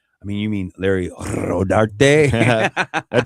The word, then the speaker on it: Rodarte: I pronounce it Rodarte because that's how it's supposed to be.